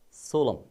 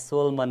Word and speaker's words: solemn: Please look at the word that is pronounced as solemn. Solemn. Right. This is not pronounced as Solomon, okay, my dear students.